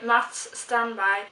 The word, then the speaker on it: Mats Strandberg: It's The Key, and it's by Mats Strandberg and Sara Elfgren. And I pronounced that in Swedish because it's Swedish authors, so I felt like I just had to pronounce them in Swedish.